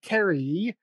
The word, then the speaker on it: Cary: food truck will be in kerry this actually i'm saying it right yep this thursday at